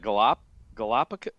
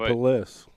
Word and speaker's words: Gallipolis: Galapagos?